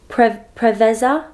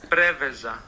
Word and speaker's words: Preveza: I'm trying to look up the pronunciation. Okay, it's Preveza International Airport. Airport in Greece. Preveza.